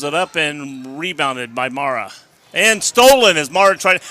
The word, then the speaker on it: Mara: her name she goes think of it as m-a-r-a mara not mora mara and here comes the